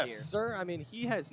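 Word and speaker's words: Cyr: Dershaw other than Aiden Sear. Yes, sir. I mean, he has not, Sir, my bad. Whatever you pronounce it as. I believe it's sir. Okay. C-Y-R. Sir.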